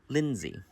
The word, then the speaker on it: Lindsay: don't want to mispronounce it how do you pronounce your name ma' Lindsay l i n d y l i n